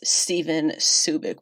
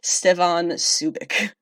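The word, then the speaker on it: Stjepan Šejić: is starting with artist Stephen Subic which no is not me mispronouncing the guy whose name looks like it says Cedric this really is a different person Stefan Subic just a couple of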